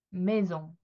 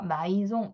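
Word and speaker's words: maison: 메종. 네. 제가 s가 모음사에 있으면 발음이 난다고 말씀드렸죠? 그것처럼 지금 이렇게 발음이 나고 있고요. 자, A하고 I가 만났을 때에 이런 소리가 나고 있어요.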